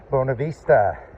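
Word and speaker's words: Buena Vista: next day we'll hit Bonavista or Buenov Vista I think they pronounce it bonavista and uh we'll probably thinking about maybe staying at the budget in then.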